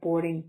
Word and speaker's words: boarding: Boarding pass or boarding card, a noun. So boarding is 2 syllables. Stress is on the first, so boarding, pass, card, both 1 syllable.